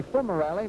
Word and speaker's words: Fumerelle: corner of the way some question about the pronunciation of fumarelli purists might say it should be full morality but we talked to rocky about it and he prefers fumarelli all right uh